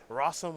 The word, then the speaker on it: Rosum: control and then jonathan rossum which rhymes with awesome playing white black aggro